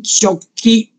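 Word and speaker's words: 食器: 餐具日文叫做 shoki，这些都要慢慢要知道，他们日文讲成食器就念成 shoki，平常我们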